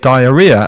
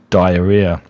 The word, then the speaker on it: diarrhea: destrates and Chris Ria together and you get diarrhea and that's the pronunciation of diarrhea.